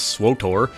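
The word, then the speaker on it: SWTOR: Wars the Old Republic abbreviated SW and pronounced by me as swor was set and hyped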